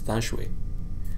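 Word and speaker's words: Than Shwe: General eventually emerged and his name is Thon shui or as in pronouncing Burmese dashui um and he came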